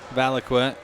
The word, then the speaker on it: Valaquette: Valaquette. All right, junior had 11. I did get feedback, by the way, that we pronounced that correctly.